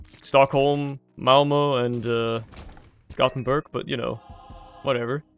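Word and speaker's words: Göteborg: but you know whatever still weird how it's pronounced like y shiing despite the fact that it's SP with a K and you would assume it to be without yering but oh well Swedish is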